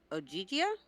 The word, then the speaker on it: Ogygia: Okay, so in the course of Odysseus' 7 years as captive of Calypso on the island Ogygia, Yes. is that how you pronounce it? Mhm.